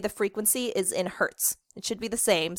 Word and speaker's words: hertz: Hertz like, ow, it hurts, but it's spelled a little bit different. So hertz like that.